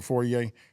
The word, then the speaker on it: foyer: But like once you come in my house, when you come into the foyer, right there, that's where we put the plaque at.